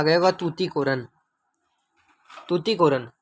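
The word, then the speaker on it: Tuticorin: तूती कोरिन तुती कोरन तुती कोरन है वैसे सही उच्चारण इसका तुती कोरन है इसमें सही नहीं दिखाई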